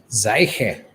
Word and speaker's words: Seiche: So is Lina, how do you pronounce the last name? Seiche. Seiche.